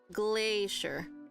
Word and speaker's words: glacier: it's just here um we have Glacier GLA Glacier so again it's just two syllables glay is the um stress we have Valley